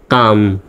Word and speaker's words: calm: তাহলে এই এল এর উচ্চারণটা আমরা সাইলেন্ট করব, অর্থাৎ এল এর উচ্চারণ হবে না। তাহলে CALM উচ্চারণটা হবে কাম, CL উচ্চারণটা হবে কাম, সিতে ক, এতে আকার, আর এল এর উচ্চারণ সাইলেন্ট, এম এ ম, তাহলে হয়ে গেল কাম।